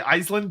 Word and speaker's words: Aislinn: So, for me personally, when I'm on a stream with Andy, it's really easy for me to just match whatever pronunciation he's doing. Um, that just it just it's just easier when I'm playing Total War. I likely will just say Iceland because it's going to match what the game is saying.